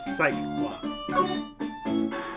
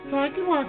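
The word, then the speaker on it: Psyche-Lock: Or the psych lock. But it's pronounced psyche. Like, psyche lock.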